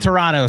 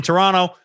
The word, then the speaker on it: Toronto: We don't pronounce the second T in Toronto, but in none of it, you pronounce the T.